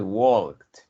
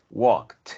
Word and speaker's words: walk: Tú dices walked. La L, si quieres, mejor no la pronuncies, right? Es walk, walked en pasado. So, la L te suena demasiado. Te suena walked. Esa L es prácticamente muda.